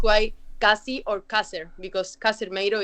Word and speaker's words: Casermeiro: My surname is pronounced as Casermeiro. Casermeiro? It's good. That sounded okay. But that's a good attempt, but it's not perfectly pronounced.